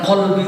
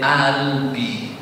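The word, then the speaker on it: قلبي: Jadi kata qalbi itu jadi alif, jadi albi. Seharusnya ifrah ya qalbi.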